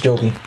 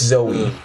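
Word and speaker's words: Zooey: man with Jim Carrey Jovi is Joey and it's Zoe yeah she's also like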